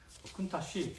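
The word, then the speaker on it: Countach: 우리나라에서는 한동안 발음 그대로 해서 카운타크라고 불렸거든요. 그래서 이게 더 익숙한 분들이 있을 거예요. 근데 언제부턴가 원래 발음인 쿤타치로 이제 부르기 시작했습니다. 이것도 엄밀히 따지면 이탈리아 발음으로는 쿤타쉬 정도 된다고 해요.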